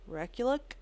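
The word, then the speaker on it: Rekulak: say his last name so I'm going to spell it R e k u l a k recul anyways that's him I give it a five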